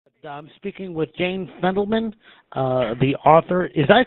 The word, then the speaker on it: Fendelman: but um speaking with Jane fendelman uh the author is that did I pronounce that correctly yeah absolutely okay very good